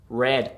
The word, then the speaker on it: read: took see saw read read pertinent pronunciation that's the same pronunciation of the color red red i read for example